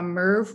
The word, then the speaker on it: MERV: So filters are rated on a MERV rating, that's spelled M-E-R-V in all caps.